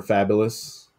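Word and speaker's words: Fabolous: with uh the rapper fabulous just to show off like that he hangs out with a-listers Primo top tier rappers like fabulous fabulous Jones over the years f-a-b-o-l-o-u-s um you gotta spell it but the acclaimed rap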